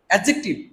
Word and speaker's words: adjective: এখানে ডি আছে না? ডির উচ্চারণটা উচ্চ থাকবে। এডজেক্টিভ।